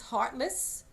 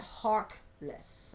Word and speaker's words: Harkless: husband Harold, along with James Hartless, or I should probably pronounce that Harkless, I think that's correct, sharing songs and stories from the African American experience of struggles, perseverance, and trials and triumphs.